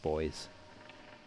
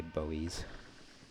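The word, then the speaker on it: buoys: Also, as a side note, I've used the American pronunciation for that, but in Australia and in the UK, we just say boys. We don't say bowies.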